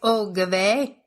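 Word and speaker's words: oy gevalt: as well, where she goes, I would say "oh gave," but that's Yiddish for "oh violence." Oh. Oyvalt. It's Yiddish. Oive, is it not? Oive.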